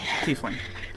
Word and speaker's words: tiefling: And underneath the portrait is the words tiefling on the bottom. And she says... What is Oh, this? that's how you pronounce it? Yes, tiefling.